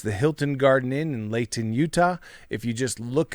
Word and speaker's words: Layton: like how you say when you're talking to people outside of utah you say layton you really enunciated that t that was good that's not how we say it here you know what